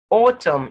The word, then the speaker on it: autumn: had to add it then n is silent in mn autumn solemn condem him column